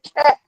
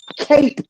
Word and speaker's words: cape: I didn't say cap. Cape with the E. Pronounced with the long A.